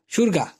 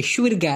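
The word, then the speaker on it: syurga: সুরগা, সুরগা, বেহেস্ত। কিন্তু ওরা লেখার সময় এইভাবে লেখে, এস ওয়াই ইউ আর জি এ, সুরগা, এরকম একটু শোনা যায়, তাই না? কিন্তু উচ্চারণ বেলায় কিন্তু সুরগা হবে, সুরগা, বেহেস্ত।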